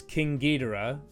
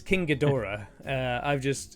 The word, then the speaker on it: King Ghidorah: I do have a Hiya Toys King Ghidorah, but I've not actually. Okay. Why did I say it like that? I've let the internet influence me. It's King Ghidorah.